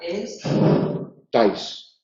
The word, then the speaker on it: estáis: digo bien no sería es tais ta pero se pronuncia en un solo golpe de voz el por eso es